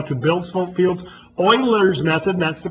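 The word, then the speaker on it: Euler: to show you how to build Sal Fields Oilers method that's the correct pronunciation um we're not even going to discuss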